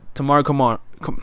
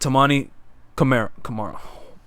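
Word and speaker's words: Toumani Camara: You got Tamari Kamara. I said his name. Say his name wrong. You got Tamani Kamara.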